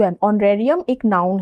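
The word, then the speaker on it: honorarium: Next word is ऑनरेरियम। ऑनरेरियम। ऑनरेरियम। एच ओ एन ओ आर ए आर आई यू एन। ऑनरेरियम एक noun है जिसका अर्थ होता है मानदेय।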